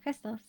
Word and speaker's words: Crystalst: How do you pronounce it? Is it Crystalst or Crystalst? Crystalst? Yeah, Crystalst. You said right.